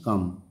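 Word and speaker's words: calm: every summer লেখা আছে প্রথমে দুটো ব্লু এন্ড কাম এলটা সাইলেন্ট থাকবে কোশ্চেন বি রাইট টি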